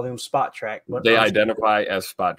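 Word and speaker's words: Spotrac: The name is pronounced Spot Track.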